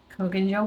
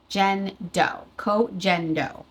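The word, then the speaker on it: Koh Gen Do: Just setting my T-zone just to, and I'm using the Kogan Gel powder. I said it wrong in yesterday's video. Kogendo.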